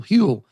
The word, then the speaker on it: Huel: want to talk about huel h-u-e-l rhymes with fuel hewl um look as soon